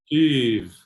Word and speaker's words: Kiev: these Western media analysts calling it Kiev, I mean, Kiev, as I understand it, at least according to Google Translate, is the Russian pronunciation. The Ukrainian pronunciation is like Kyiv.